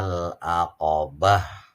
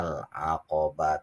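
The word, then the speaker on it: العقبة: berhenti lebih uh utama wama adrokama al-aqobah bukan wama adrokama al-aqaba tua JYJ itu kalau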